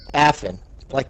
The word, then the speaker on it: Afin: We're gonna do the story time at some point, but it's just, for the time being, it's Afin. We're good. Afin. It's like the medicine, Afrin.